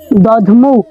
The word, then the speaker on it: দধমৌ: তার মানে আমরা অবশ্যই এখানে দধমৌ, দেখা যাচ্ছে এখানে ধটা কিন্তু অর্ধ উচ্চারণ আসতেছে, দধমৌ।